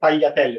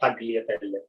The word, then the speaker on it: tagliatelle: By the way, if you see in Italian GL, it's not spelled gl, it's spelled gl. Okay, so tagliatelle, not tagliatelle.